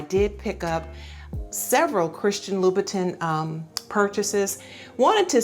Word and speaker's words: Louboutin: I've heard Christian Louboutin, I've heard Christian Louboutin, and you know, it ends with T-I-N, so I just go with phonetically. It sounds like it should be Christian Louboutin, but you know what, Louboutin, red bottoms, however you want to say it, enjoy your purchase.